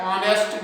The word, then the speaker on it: honest: तो पहला है शी is dash ऑनेस्ट girl, तो इसको लिखो एन, शी इज एन ऑनेस्ट, क्योंकि ये ऑनेस्ट नहीं पढ़ते हैं, ये एच जो है ऑनेस्ट का एच जो है ये साइलेंट है, और जो वर्ड शुरू